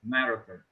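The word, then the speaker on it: narrative: not okay yes the the English accent should be on the first syllable like narative um but that's okay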